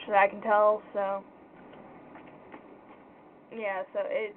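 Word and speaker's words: ja: for yes j a the j is pronounced like a y so it's pronounced yeah not gel yeah so there's that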